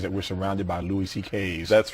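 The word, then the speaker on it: Szekely: My Hungarian grandfather's name was C.K., but it's spelled, it looks like, it's a mess. It's S-Z-E-K-E-L-Y, and it sounds like C.K., though.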